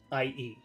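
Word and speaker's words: i.e.: something like that uh you just read it IE so sometimes that could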